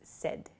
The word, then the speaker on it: said: at the party okay please be careful of your pronunciation with the word said a lot of people I've heard use S S is not correct so please use said it sounds like s d the pronunciation uh but it's said s a d is the spelling say becomes said she